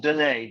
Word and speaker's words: Dennis: So it's pronounced Dene, Dene, but it looks like Dennis.